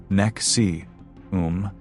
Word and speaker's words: NXIVM: In 1998, Raniere founded an organization called NXIVM, which is pronounced Nexium, presenting it as a personal and professional development program.